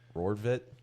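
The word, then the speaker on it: Rortvedt: No, Ben Rodvit.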